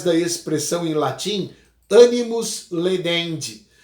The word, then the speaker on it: laedendi: A gente fala, através da expressão em latim, animus ledendi. Se escreve laedendi, mas se pronuncia ledendi.